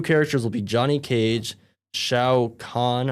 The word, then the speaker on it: Shao Kahn: And then new characters will be Johnny Cage, Shao Kahn, I believe is how it's pronounced.